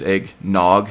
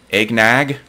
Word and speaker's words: eggnog: The rest of the country says eggnog, the same as dog and hog. A lot of the Scrantonians say it's more of a short A sound.